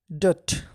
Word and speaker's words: debt: ডেট, এখানে DEBT, উচ্চারণ হবে ডেট, বি এর উচ্চারণ হবে না।